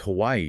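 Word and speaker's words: Hawaiʻi: they get into the Hawaiian pronunciation Hawaii. It's all about that little mark between the two eyes. It's called an Okina. And it's not just decoration. It signals a glottle stop.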